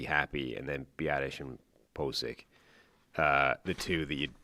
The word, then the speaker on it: Pocic: Pocic's name, the official pronunciation became Posic, even though that doesn't make any sense.